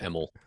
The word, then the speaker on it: Imel: I always tell people pronounce it like you don't want to try and pronounce it. Uh so it just kind of rolls off the tongue a little. Emmel like you give up halfway.